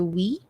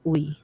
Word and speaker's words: Uy: In the province, we prefer we than uy.